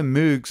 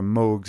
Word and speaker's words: Moog: in fact it's how moogs or mugs as they're correctly pronounced apparently and create their massive